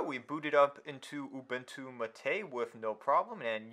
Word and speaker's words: MATE: booted up into entu mate with no problem and yes I am pronouncing it as mate even though there's no accent over to e because that's how the developers want it to be pronounced if you have a